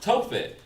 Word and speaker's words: Tophet: And they have built the high places of Tophet.